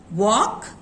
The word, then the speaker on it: walk: सो वॉक जब हमने कहा एल का आवाज है वहां पे, क्या मैंने वॉल्क कहा? नो, एल होते हुए भी एल की साउंड सुनाई नहीं पड़ती। वॉक, टॉक, हाफ, हाल्फ नहीं होता, इट इज हाफ।